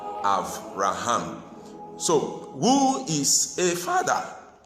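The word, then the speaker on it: אברהם: We normally pronounce it Abraham or Abram, but the Hebrew way of pronouncing it is Avram and Avraham.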